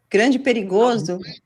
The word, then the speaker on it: grande perigoso: Grande perigoso.